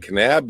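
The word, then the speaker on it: Kanab: And you're in Canab. Can How do you pronounce that? Canab, Utah.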